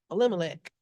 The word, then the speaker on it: Elimelech: Elimelech.